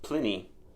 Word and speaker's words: Pliny: two weeks old and apparently it should be pronounced Pliny at least a historian would say a little